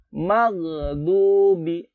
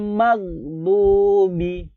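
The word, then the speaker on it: المغضوب: Gitu aja, jangan sampai mag, nggak boleh ada mag, mati, magdubi, bukan magdubi atau sampai magdubi, salah, Ghairil maghdubi. Ghairil maghdubi. Di sini harap ada huruf dod. Dod ini huruf dod.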